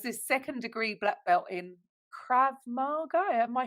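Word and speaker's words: Krav Maga: Was this secondderee black belt in Krab Margo? Am I saying it right? Yes. Krab magga.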